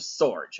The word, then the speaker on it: Sorge: I mean, your name rhymes with George, and Right. that's kind of, but it's Joseph Sorge.